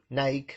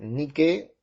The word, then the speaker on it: Nike: así en el cae así como la marca de las zapatillas ni que nike les decimos acá en argentina pero se dice ni que era la diosa de